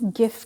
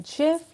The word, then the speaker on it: GIF: बहरहाल Oxford English dictionary जो है वो दोनों प्रोनाउंसिएशंस को एक्सेप्ट करती है। सो अगर आप बोलते हैं जिफ या अगर आप बोलते हैं गिव, सो दोनों प्रोनाउंसिएशंस करेक्ट हैं ऑक्सफोर्ड इंग्लिश डिक्शनरी के हवाले से।